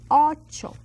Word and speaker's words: ocho: Ocho. That's 8. And that's a CH sound that we learn also in our alphabet.